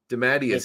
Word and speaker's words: DeMatteis: Man, I've been pronouncing it wrong my entire life. DeMatteis.